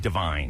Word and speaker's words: Devine: how to say it people saying Divine Divine Divine he's Divine cuz Adam Lavine from Rune five Adam Divine from righteous gemstones Pitch Perfect Circle ads